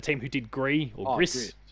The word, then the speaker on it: Gris: Never, I believe, was always the pronunciation. It was the next game from the team who did Gree or Gris, Gree, okay.